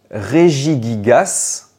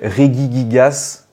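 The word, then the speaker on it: Regigigas: le roi des golems alors est-ce qu'on dit réi gigas ou réi giga alors celui-ci beaucoup de personnes le prononce très mal il y a même j'aurais pu mettre encore plein d'autres possibilités il y en a même qui l'appelle Regi gigas ou rigija mais là je vous je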